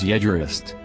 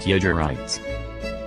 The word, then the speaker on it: Jaegerist: It is Jaegerist. Wrist. Not Jaegerites.